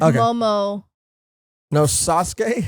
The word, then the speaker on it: Momonosuke: alexander art said uh it's like sasuke so it's like momo no sasuke sasuke like how you pronounce sasuke instead of sansuke of his devil fruit